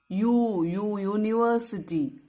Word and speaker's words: university: U is not a consonant, but the sound is Y, Y sound. University.